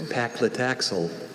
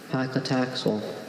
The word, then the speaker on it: paclitaxel: Your word is paclitaxel.